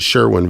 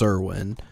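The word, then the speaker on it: Cerwin: on the radio and we always call it Sherwin Vegas so I'm covering both bases so just as just so every every forum post I was seeing was like no it's pronounced Cerwyn yeah and I'm sure we're probably I'm sure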